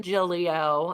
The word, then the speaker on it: Giglio: so I was like the second g is silent but everybody calls me